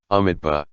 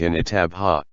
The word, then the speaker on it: Amitabha: solemn and respectful expression, Amitabha. He had a He province accent and could not pronounce the Mi syllable clearly, so it sounded like an Itabha.